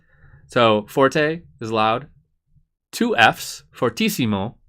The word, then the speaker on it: fortissimo: Forte is loud too fortissimo is the way we pronounce that means really loud three